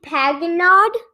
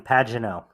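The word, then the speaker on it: Pagenaud: won by s simon paganod simon pagino pagino oh yeah it's a french last name it's a little hard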